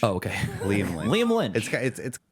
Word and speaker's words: Liam Lynch: Liam Nitch? His name's Liam Nitch? I mispronounced the. What's his real name? Lynch? It's Liam Lynch. Oh, okay. Liam Lynch.